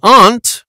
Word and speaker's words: aunt: Some say ant rhymes with can't. Some say aunt rhymes with want.